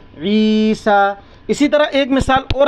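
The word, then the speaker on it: عيسى: कुरान में लिखा होगा ईसा क्या लिखा है ईसा क्या लिखा हुआ है बच्चों ई सा न या जर ई सीन खड़ा जबर सा तो ये या साइलेंट होता यह पढ़ नहीं जाएगा तो क्या है पढ़ने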